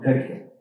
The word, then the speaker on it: Berke: But the reason why is because he had a very Turkish pronunciation. And Baraka, they call him Berke. Berke Khan. The Turkish pronunciation of Baraka.